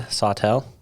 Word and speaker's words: Sawtelle: studios today we are joined by um sotel i actually don't even know how to say